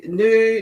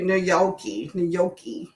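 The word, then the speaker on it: gnocchi: Noi. Noi. Oh, there we go. There we go. That sounds weird. Sounds like a M. Like milky. Okay. So, the G is definitely silent.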